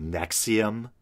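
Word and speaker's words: NXIVM: or whatever um and the name looks like a mess of Roman numerals but I believe it's supposed to be pronounced Nexium or something like that and I think there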